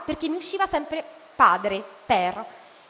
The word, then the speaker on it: père: la E per pronunciare, mentre il nome padre in francese si dice père, si deve aprire la E.